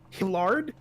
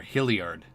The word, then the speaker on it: Hilliard: Hillard? There's an I in there. Hilliard. But Hilliard. like Juilliard.